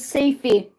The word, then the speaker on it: Seyfi: That cat is Safey. Safey is spelled Seyfi.